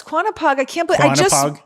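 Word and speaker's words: Quonnipaug: I have to say Lake quanap poog ah I don't think I'm saying it right it could be quona poog no it's quanap poog I can't believe I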